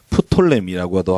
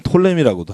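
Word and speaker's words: Ptolemy: 프톨레미라고도 하고, 피를 묵음으로 하면 톨레미라고도 하고, 이 두 왕국이 서로 이 지역을 이겼다 졌다 이겼다 졌다.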